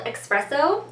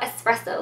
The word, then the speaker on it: expresso: wearing this color today it's called expresso and it's I'm not saying it wrong it's an X in there it's not espresso like the coffee so anyways this is